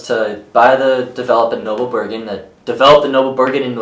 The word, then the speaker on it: Noble Brigand: Just so everyone knows, this card is not pronounced Noble Brigand, it's pronounced Noble Brigand.